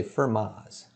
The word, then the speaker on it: Fermat: this theorem is called firma's theorem so when i pronounce this name we don't pronounce the t so i just say fermas okay and this theorem